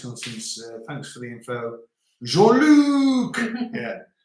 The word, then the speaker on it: Jean-Luc: Jean-Luc. Yeah. You pronounce the C.